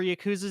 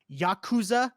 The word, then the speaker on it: Yakuza: I've been playing more Yakuza 0, hoping to get that finished up.